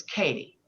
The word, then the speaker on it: Katie: And I want to change my name and my new name is Katie and it's spelled K A T I E. And if you call me by the name K, I won't answer you.